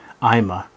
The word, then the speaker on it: iMah: about this particular brand imma that's actually how it's pronounced I'm uh I've actually spoken to the manufacturer many times and that's how would you say it i'ma so there are two